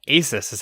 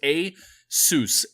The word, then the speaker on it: ASUS: quick like I if that's the way it's pronounced cool I a sis's how I've said it my whole a suspense